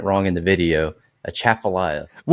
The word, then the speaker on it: Atchafalaya: So, the uh A Chapalia River. A Chaffalia River. I' I've been saying it wrong. I've been saying it wrong in the video. A Chaffalia.